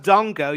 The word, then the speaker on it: Dango: one more thing given that his name's pronounced Dongo you really ought to